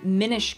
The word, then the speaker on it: Minish: pretty sure it's the Minish Cap it's pronounced Minish it's pronounced a Minish Mish cap there there